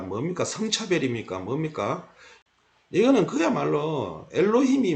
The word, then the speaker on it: 엘로힘: 엘로힘 이렇게 읽습니다. 엘로힘. 자, 범어은혜 하겠습니다. 엘로힘은 얼 더하기 로 더하기 임입니다. 이걸 서양 사람들은 발음을 잘 못해요. 그래서 엘로힘, 엘로힘 이렇게 하는데요.